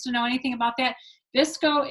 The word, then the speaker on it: VSCO: And if anyone else wants to know anything about that, Visco is spelled, I know, VSCO.